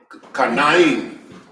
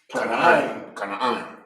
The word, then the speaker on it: Canaan: First, I'm pronounce it. Kanaim. Close. Canaan.